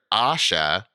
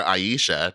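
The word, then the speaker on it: Ayesha: it in Japanese and that's how they pronounce it even though it's spelled a-y-e-s-h-a um Aisha I don't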